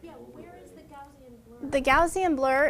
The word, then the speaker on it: Gaussian: That's Gaussian blur. And then you use, it's called a blending mode. I think it's those modes that you're talking about of, like Yeah, overlay. where is the Gaussian blur?